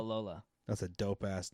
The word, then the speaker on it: Babalola: Babalola? Babalola.